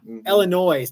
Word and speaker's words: Illinois: is in Elin nois Illinois did you know that if the good Lord didn't want you to pronounce that s he wouldn't have put it on the end Illinois Illinois yeah Illinois